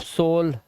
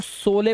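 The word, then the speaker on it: sole: अब पहले मैं भी सोचता था इसको सोले पढ़े। सोले सोले। लेकिन फिर पता चला लास्ट का ई साइलेंट होता है। और दो कोंसोनेंट के बीच में ओ आया है। लास्ट में इ है। तो इसको ओ से पढ़ेंगे तो सोल हो गया ये। अब ये सोले नहीं है।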